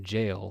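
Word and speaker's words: gaol: Someone told me this is supposed to be pronounced jail, like it's an old spelling. So I'm just gonna call it that. The jowl.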